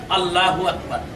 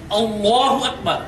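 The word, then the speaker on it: الله أكبر: হবে লক্ষ্য করুন বোর্ডে এখানে লেখা আছে আল্লাহু আকবার কিন্তু আমাদের দেশের অনেক মানুষ উচ্চারণ করে আল্লাহু আকবার কিন্তু উচ্চারণটি সঠিক নয় উচ্চারণটা হচ্ছে আল্লাহু আকবার যখন নামাজের নিয়ত করব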